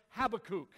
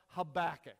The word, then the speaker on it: Habakkuk: some places they say Habakkuk okay I don't want to be called a kook I don't think he would either so I prefer the pronunciation of Habakkuk all right however you